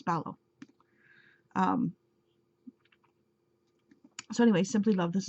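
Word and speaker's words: Balogh: And for the longest time, I've been pronouncing it as Balog. But it's Ballow.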